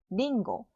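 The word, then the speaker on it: りんご: 사과는 리응고, 링고.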